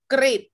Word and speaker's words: กริช: คะ จิต หรอ คะ กริบ ไป ดู กริ นะ คะ อาจ เป็น เสียง ริ นะ คะ กริช หมาย